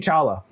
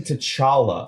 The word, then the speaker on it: T'Challa: Anyway, King Chala. King T'Challa. T'Challa. Right. Say it right.